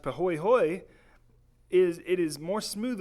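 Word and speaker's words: pāhoehoe: 220 feet thick but Hui Hui which is pronounced pahoehoe is it is more smooth ons surface than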